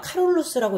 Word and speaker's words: 카롤루스: 이거는 이제 발음하기 나름인데 어느 지역마다 카롤루스라고 읽기도 하고 샤를마뉴라고 읽기도 하고 그냥 읽기 방법의 차이예요.